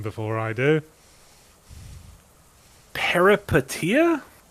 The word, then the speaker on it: Peripeteia: well, I might ask that my co-host, Marty Sleever, have a go at pronouncing the name before I do. Peripeteia? Peripeteia. Pretty good. Peripeteia.